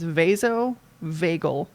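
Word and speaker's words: vasovagal: I don't know what it all means but it's vaso veagal like the vagus nerve. I think vasovagel and then syncopy.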